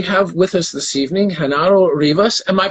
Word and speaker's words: Genaro Rivas: and gentlemen, we have with us this evening Genaro Rivas. Am I pronouncing your name correctly?